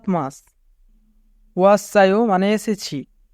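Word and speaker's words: 왔어요: ওয়াসায়ো মানে এসেছি। এখানে বাচ্চিমের পরে ইয়ং আছে, তাই বাচ্চিমটি ইয়ং এর স্থানে যাবে, অর্থাৎ সাংসিয়ত ইয়ং এর স্থানে যাবে, তাই উচ্চারণ হবে ওয়াসায়ো।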